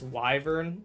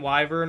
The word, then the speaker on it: wyvern: that's the idea it's wyvern oh wyver and wyvern are are both valid pronunciations of of the word wyvern I'm pretty sure but I will knit